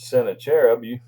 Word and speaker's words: Sennacherib: Some past Assyrian king coming against Israel, like Sargon, or I pronounce it Sennacherib. Many people pronounce it different.